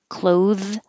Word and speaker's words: clothes: closed the door same thing that the th here just completely disappears cloths clothes clothes sincerely sincerely salutation